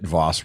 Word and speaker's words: Vos: I understand that Voss rhymes with toss.